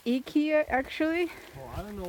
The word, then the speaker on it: IKEA: here the I is actually pronounced as E, like the letter E for in America.